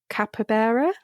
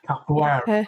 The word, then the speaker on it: capoeira: Is it because of your, I'm going to get the pronunciation wrong, capybara? Capoeira.